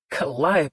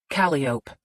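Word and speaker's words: Calliope: Collia de Winter. Caliop. Lee corrected.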